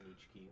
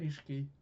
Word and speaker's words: Nishiki: Japanese, some things in American, and Ni- not Nichiki, what's his name? The guy with that Niho, what's his name? Kazuma, and who's the other guy? Nishiki.